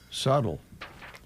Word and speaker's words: subtle: you Joe that's fine why does subtle have a b in it I think that's the way it's spelled I know yeah but why in the English language you know that I don't know you don't say the bee subtle ask whoever made